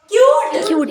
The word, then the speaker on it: cute: जहाँ पर एक कॉन्सोनेंट के बाद यू, फिर उसके बाद एक कॉन्सोनेंट, उसके बाद ई, तभी ई साइलेंट रहता है और जो यू है ना वो अपना ही नाम पुकारता है, यू, CUTE, क्यूट, अपना नाम पुकारा ना यू, CUTE क्यूट, अपना ही नाम बोला, Yes.